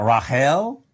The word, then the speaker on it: Rahel: rach we have that they don't have a ch sound as in rachel when for whatever reason